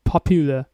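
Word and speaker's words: popular: পপুলা okay good আমরা হচ্ছে আরেকটু স্ট্রেস দিব এখানে সুন্দর করে পপুলা ওকে পপুলা এক্সাম্পল সে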